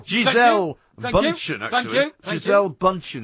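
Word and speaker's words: Gisele Bündchen: It's Giselle Bundchen. Thank you. It's Giselle Bundchen, actually. Thank you. Giselle Bundchen is the correct pronunciation.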